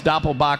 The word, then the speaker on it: Doppelbock: i know how it's because doppelbach rhymes with will rock a dollar from every